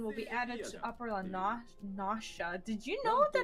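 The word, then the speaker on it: La Noscea: Lanasha. That's actually the correct pronunciation.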